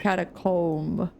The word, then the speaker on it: catacomb: Comb. Like toe. Comb. Comb. Right. Catacomb.